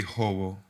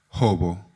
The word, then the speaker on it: Jobo: And my fruit would be hobo, hog plum in English.